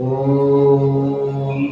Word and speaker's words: ओम: करना है शुरू करें ओम अ, उ और म ये तीनों शब्द आना चाहिए। पहले अ फिर उ और फिर म ओम ओम